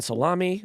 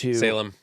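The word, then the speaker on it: Salame: in prison most recently Ryan salami was sentenced Salem it's Salem it's Salem D bellony literally has to put a pronunciation guide in his stories for this name because everyone calls him Ryan salami but it's Salem do you know what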